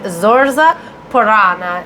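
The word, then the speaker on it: Zorza Poranna: uh she's also so zoria uttena is how you say it in russian and zorza purana is the polish you say and it almost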